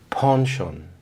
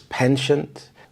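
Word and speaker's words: penchant: In American English, it would be pronounced as pensient, but in British English, it closely resembles the French pronunciation.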